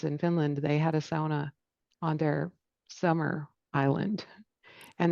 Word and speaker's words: sauna: By the way, that's the proper way to say it if you're Finnish. You say every letter in the word.